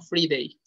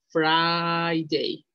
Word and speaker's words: Friday: cierto viernes se produce se pronuncia friday no fribey friday friday friday escuchan canciones en inglés